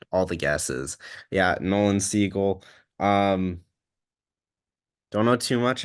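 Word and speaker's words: Siegel: you say his last seagull like the bird missing on all the guesses yeah Nolan seagull um don't know too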